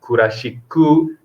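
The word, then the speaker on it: クラシック: Okay, you need to be careful about the pronunciation for what written in katakana. Kurashiku, jazu. Okay, otherwise Japanese people not understand.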